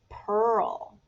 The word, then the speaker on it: pearl: Moving on to the word pearl. Look at the word pearl closely. Pearl is 3 letters that make that sound, E-A-R, So we have p, pearl, okay?